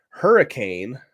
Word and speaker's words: Hurricane: State we were in Hurricane I think it's pronounced hurricane might be hurani I don't know somebody